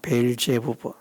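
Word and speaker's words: 바알세불: 있는 대로 귀신의 왕 발세불, 발제부 그렇게 좀 더 정확하게 발음하면 제 발음이 정확한 것은 아닙니다만는 아 벨제부 이렇게 반하는 것이 좀 더 정확하다고 할 수 있는데 발세불 그게 마귀의 이름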